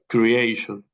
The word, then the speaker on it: creation: Remember that when you have the letter T and then you have I-O or I-A, we pronounce like sh.